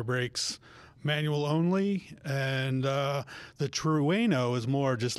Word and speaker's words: Trueno: And also the close Ken, the Toyota GR86 Torino edition. I think I got that right. Trueno. Trueno edition for all you of you.